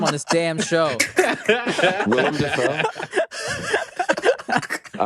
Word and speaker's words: Willem Dafoe: But yeah, like William Dafoe definitely looks older now too. So like Willem. I'm tired of you mispronouncing everyone's Willem? name on this damn show. Willem Dafoe.